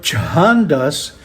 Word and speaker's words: chandas: And the word chahandas begins with the letter cha in IS ordinary cha is just cha but chaha is cha the aspirated version.